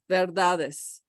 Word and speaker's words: verdades: The D comes back to be the beginning of the next syllable, verdades, okay?